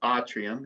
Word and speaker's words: atrium: did you get that atrium means atrium or autrium if you're pronouncing it correctly and that cubicle means